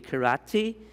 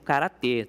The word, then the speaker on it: karate: e a palavrinha karatê, né, ela tem algumas pronúncias que diferem, tá? Então, se vocês ouvirem karate, o karatê, algo relacionado a isso, se refere a esse termo karatê.